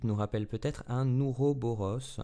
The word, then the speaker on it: Ouroboros: Le symbole du 8 nous rappelle peut-être un Ouroboros. Alors moi je le prononce comme ça, je ne sais pas trop comment ça se prononce. À la latine c'est Ouroborus.